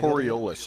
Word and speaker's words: Coriolis: Coriolis is how it's pronounced.